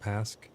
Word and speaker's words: pasque: could definitely use yeah p a s QE I think that's how you pronounce it pask I have some they're